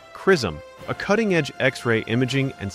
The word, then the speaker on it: XRISM: This discovery came from ZRISM, pronounced Chrysom, a cuttingedge X-ray imaging and spectroscopy spacecraft led by Japan with major support from NASA.